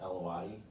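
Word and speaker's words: Alawite: I think it's pronounced Alawati.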